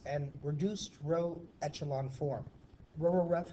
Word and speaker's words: RREF: reduced row echelon form Rho ref is how I'll pronounce it in class so I want you